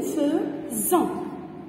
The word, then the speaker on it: faisons: Attention ici les enfants, on a S entre deux voyelles. La voyelle I et O. C'est pourquoi on prononce Z. Nous faisons.